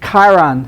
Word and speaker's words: Chiron: The Chiron, hard C, K sound, right?